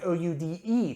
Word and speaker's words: Oude: But in this one, they use the alternate spelling, which is O-U-D-E, pronounced Oude, just like the word Geuze has an E on the end. E's are pronounced in Dutch just as they are in German on the end, and they make that sound.